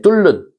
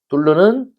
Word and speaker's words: 뚫는: 그래서 니은이 리을로 바뀌었으니깐 유화 그다음에 뚫른 뚫는 뚫는이 아니라 뚫른이라고 해야 되겠죠.